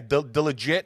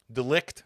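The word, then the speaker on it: De Ligt: Delegit. How do you say his name? Delegit to quit. Delict.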